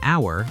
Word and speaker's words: hour: Yes, for example, we say an hour because the H is silent.